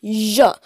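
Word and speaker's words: Ж: It's pronounced zh, like mixing sh and z together.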